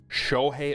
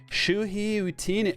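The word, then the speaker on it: Shohei: But when it's like Shohi Otani and you're like Shuhi, like you don't even know how to say the MVP's name.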